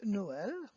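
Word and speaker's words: Noël: well then you would have one and two syllable you remember that yesterday so no uh Noel means to a ash ah so you also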